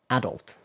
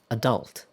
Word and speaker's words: adult: So, this time I said the British pronunciation first. British English usually places the stress on the first syllable on this word. And American English, however, often place the stress on the second syllable.